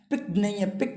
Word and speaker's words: peak: चुके हैं, have already पिक नहीं है, ये PICK होता है, पिक्ड प्रोनाउंसिएशन में, ये है आपका पीक, PEAK, पीक बोलते हैं, पिक्ड नहीं बोलना है इसको, पीक बोलना है, ठीक है, पिक का